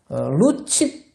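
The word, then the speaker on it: lucifer: 것입니다 그 루시프라는 것은요 라틴어로요 루치페 그렇게 이제 발음을 하는데 루치페르라는 것은요 빛의 운반하는 자다 그러니까 새벽별이라는 빛을 아주 반짝이는 것이다 루치페러라 그래서요 영어 발음으로 하면 루시퍼가 됩니다 루시퍼 그런데요 그 라틴어를요 이제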